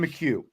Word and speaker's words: McHugh: Mchugh. Is he say McHugh? Mchugh. Thank you. I think I said Mchugh. Yeah. Yep. It's a lot easier than it looks. I'll just say that. Yeah. Grayson Mchugh committing offensive lineman.